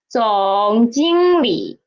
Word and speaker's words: 总经理: At the end of a syllable, how to read it? It is a half third tone, right? So, 总经理, 总经理.